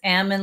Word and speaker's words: Ammon: always says it's uh think about salmon it's Ammon like salmon so I so before